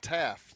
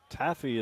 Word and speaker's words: Taff: so we're at qb1 Taff Taff is a pronunciation now that uh we got clarification on that George oh good where'd you get that from uh Rusty corrected us Taffy is like saltwater taffy his name is Taff okay gives him a